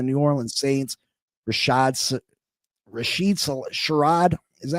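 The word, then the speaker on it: Shaheed: Rasheed Sherad, is that how you say his name? Shahed.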